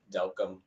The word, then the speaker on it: Delcambre: One way I tell people to remember my last name is it rhymes with welcome. So Delcom, welcome.